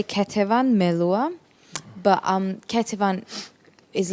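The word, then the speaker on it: Ketevan Melua: you f online kavan Mala how do I pronounce that properly uh yeah you can say ketan meloa but um kvan is like the extended version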